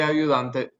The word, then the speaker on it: ayudándote: where it originally was, but by adding a syllable, that forces this natural stress to come here on the O. And I don't want it on the O. I want to put it back on the ayudándote.